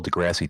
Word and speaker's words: deGrasse: I'm going to say his name wrong. Neil deGrasse Tyson, I think is how it's said.